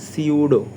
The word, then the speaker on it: pseudo: সিউডো বানানটা হচ্ছে এরকম, পি থাকে কিন্তু পিটা উচ্চারণ হয় না, PSEUDO।